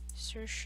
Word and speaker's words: Saoirse: Poor girl, her name has been butchered so many times. Saoirse Ronan.